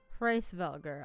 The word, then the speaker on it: Hreisvelgr: Hreisvelgr.